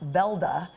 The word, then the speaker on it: Weldy: Johnny Johnson well D actually pronounced Velda in Norway came from Norway with